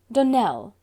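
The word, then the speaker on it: Donnell: would set it right Dell Accent on the last syllable and Sinclair on no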